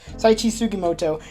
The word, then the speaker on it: Sugimoto: So, our main character here, his name is Sugimoto. I think that's how you pronounce his name. Yes, Saichi Sugimoto.